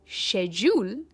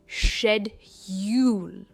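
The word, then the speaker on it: schedule: सबसे पहला वर्ड है, इसकी दो प्रोनाउंसिएशंस है, शेड्यूल या शेड्यूल। ये जो प्रोनाउंसिएशन है ये है ब्रिटिश प्रोनाउंसिएशन यानी यूके प्रोनाउंसिएशन और ये है अमेरिकन प्रोनाउंसिएशन। चॉइस आपकी है, आपको कौन सी प्रोनाउंसिएशन यूज़ करनी है, पर मैं जनरली कहती हूँ शेड्यूल एंड नॉट शेड्यूल, right. और ये जो मैंने मार्क किया है ब्लू में, इस सिलेबल पर स्ट्रेस दिया जाता है।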